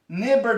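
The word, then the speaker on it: neighbour: ښه لکه څنګه مثال که زه وایم چې نیبر دا معنی چې همسایه. صحیح شو؟ ما درته طریقه ښودلې وه چې د آی نه شاته GH راشي نه تلفظ کېږي.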